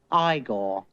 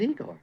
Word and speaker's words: Igor: No, it's pronounced Igor. But they told me it was Igor. Well, they were wrong then, weren't they?